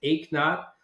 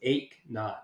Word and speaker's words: Eknauth: start with the easiest part which is the pronouncing my name for everybody it's ACH not like no pain so if you didn't work out today you ache not so that's I think it's more of an